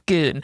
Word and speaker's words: Scone: anyone in America reads the word scone and says scone and he's like wait the last word of the play is gone and her teacher's like no no it's goon because it's supposed to rhyme with each one oh boy it's